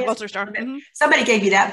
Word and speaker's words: Wolterstorff: Wolterstorff.